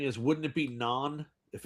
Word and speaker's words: naan: It's naan bread, not nan bread.